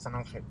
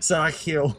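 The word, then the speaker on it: San Ángel: In Spanish, the G in Spanish, when it's right next to an E or an I, it's pronounced like an H in English, like San Angel.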